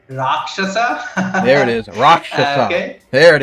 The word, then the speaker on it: Raakshasa: you drake and uh the pronunciation of the first book is rakshasa there it is there